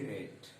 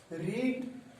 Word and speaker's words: read: पे हमने लिखा READ, मैंने आपको बताया कि ही रेड mathematics, रीड रेड, रेड, R-E-A-D, रीड, R-E-A-D, रेड। हम उच्चारण के द्वारा ही केवल जानते हैं कि वाक्य को हम प्रेजेंट में है कि पास्ट में, स्पेलिंग एक ही होता है।